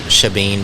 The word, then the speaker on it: Shebeen: It looks like Shebeen, but I've been told by my marketing team to call it Shebeen because that's the proper way to say it.